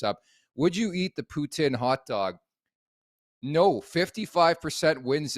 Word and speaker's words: poutine: to the Bhutan and I say it properly it's Putin not poutine but it's way better